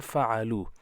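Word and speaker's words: فَعَلُوا: So pronunciation will be fa'ala, fa'ala and fa'alu.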